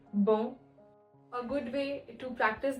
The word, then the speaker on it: bon: For example, a lot of times students end up pronouncing it as bon instead of bon. Nasal sound, bon.